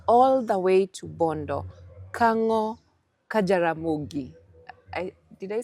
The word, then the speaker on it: Kango ka Jaramogi: Nairobi, bringing it all the way to Bondo, Kango, Jaramogi.